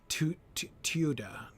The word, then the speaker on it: Teuda: I spoke with Huneric Hundredslayer, lord of the Teuda. Teuda. It's two syllables, definitely. Well, I mean 3, but 2 at the beginning.